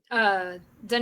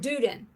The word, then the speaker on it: Dunedin: No, Dunedin. The other one. I gotcha. Yep. Yeah. It's right there where Honeymoon Island is. It's right before. And I called it Duden.